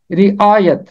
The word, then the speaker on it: رعایت: یہ ختم ہوتا ہے، پہلے کے نیچے زیر اور یہ کے اوپر ہمیشہ زبر، اور درست تلفظ ہے رعایت۔ آگے 11ویں باب کی